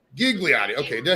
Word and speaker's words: Ghigliotti: Today, we are joined by legendary actress, Miss Marilyn Ghigliotti. Ghigliotti, is that right? Best known for the movie Clerks. How are you today, ma'am? I'm good. It's Marilyn Ghigliotti. Ghigliotti.